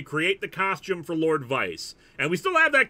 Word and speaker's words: Vyce: took from that is let's give me a name that's one syllable yo something yo it's very easy to say easy to remember and we we brainstormed a couple of names and vice was what we settled on but spelled with a Y because poor literacy is